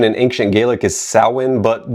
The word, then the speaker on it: Samhain: And I know the correct pronunciation in Ancient Gaelic is Sin, but the band and its fans pronounced it like Sam Hayne, so that's how I'll be using it, too.